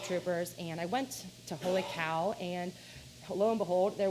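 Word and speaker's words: Holy Kaw: It's called Holy Cow, but it's spelled K-A-W.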